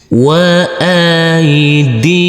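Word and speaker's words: وَأَيْدِيكُمْ: Huruf dal yang berkasrah i bertemu dengan huruf ya sukun, kita baca panjang dengan panjang dua harakat. Huruf mim sukun kita baca dengan huruf m. Kita ulangi. Wa aidikum.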